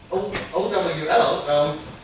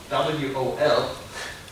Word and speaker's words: OWL: And OWL, it's not WOL, because OWL is easier to pronounce, not kidding me.